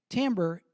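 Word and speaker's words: timbre: listen for the tamber now tamber you're looking at the screen and you're thinking that looks like Timber to me that's because of some faux French that is slipped in to English faux French do you like that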